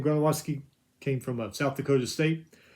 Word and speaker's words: Gronowski: Iowa quarterback Gronowski, it's how you say his name, Gronowski, came from South Dakota State.